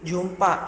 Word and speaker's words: Jhumpa: झुम्पा, Jhumpa, झुम्पा. In this H is silent.